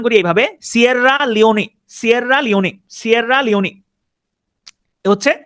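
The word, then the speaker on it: Sierra Leone: এস I double আর এলই ও এনই আমি উচ্চারণ করি এভাবে সিরা লিওনি সিরা লিওনি সিরা লিওনি হচ্ছে সিরা লিওন কমিটমেন্ট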